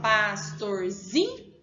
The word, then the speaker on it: pastorzinho: Qual é a sílaba pronunciada com mais força, Heitor? Muito bem, o zinho. A gente fala pastorzinho, então é o zi.